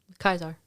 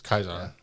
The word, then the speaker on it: Caesar: The actual way to pronounce it. Kaisar. It's Kaisar.